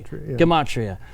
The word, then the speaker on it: gematria: of the Demetria we mentioned earlier I always mispronounce and gematria gomorian Komachi it's a harder Gina gematria I always do that but a little Judah